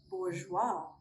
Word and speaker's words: bourgeois: We do not pronounce the letter S when it comes before the letter L or after the letter I, sometimes at the end of a word.